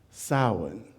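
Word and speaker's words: Samhain: are going to read a story today called sa that's how it said because it's a Celtic word it's spelled s a m ha a i n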